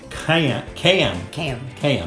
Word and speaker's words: cayenne: The cayenne. It's cayenne.